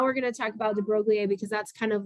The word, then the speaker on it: de Broglie: Well, Louis de Broglie is how you say his last name, said,